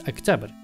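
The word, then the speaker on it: Октябрь: The pronunciation of October in Russian is Oktyabr, so right here we would need a ya sound, which is where the Russian letter ya should be.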